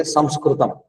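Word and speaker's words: संस्कृतम्: I think I explained this before also, because Sanskrit and English pronunciation is Sanskrit and actually Samskritam, that is the actual word.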